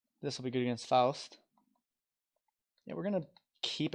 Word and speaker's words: Faust: And I believe I'm pronouncing it right. I believe when I was younger I said Faust, but I do think it's Faust.